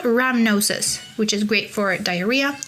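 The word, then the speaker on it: rhamnosus: In the lactobacillus species, we have L ramnosis, which is great for diarrhea and immune support. Ramnosis is spelled A R H A M N O S U S.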